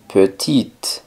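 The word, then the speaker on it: petite: pronunciar la t y pequeña petit pronunciando la t pero no la e peti grande en franc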